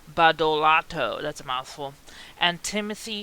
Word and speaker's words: Badolato: Bannon, Colfage, Andre Badoltad, whoa, this is really bad pronunciation, Badolato, that's a mouthful, and Timothy Shee are accused